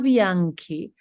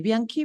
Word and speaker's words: Bianchi: Bianke, Biani, Bianke, correct? Bianke is an Italian Brazilian chef and writer with a background Italian name from a Italian Brazilian family.